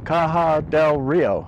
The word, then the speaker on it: Caja del Rio: Hello from Caja Del Rio. Hope I'm pronouncing that right. It's spelled C-A-J-A, which is just outside of Santa Fe, New Mexico.